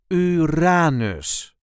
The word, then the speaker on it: Uranus: Time to go to our next planet, Uranus, or Uranus in English. This is the way we say Uranus. Uranus. There is a light emphasis on the second syllable, Uranus.